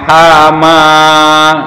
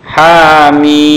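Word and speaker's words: حم: kalau kita dengar tadarus jadi bacanya hama ohama yahama itu yang merusak tanaman ya bukan bukan hama bacanya tapi Hamin minimnya 6 rokaat mihin Hamin gitu ya ini alif lam ro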